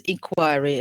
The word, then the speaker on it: inquiry: He got a quick reply to his inquiry. How many syllables do we have here? Inquiry. 3 syllables. Three syllables. Teacher, Good. three Yes. syllables. Yes. What's the stressed syllable? The second Why? Second syllable. Yes.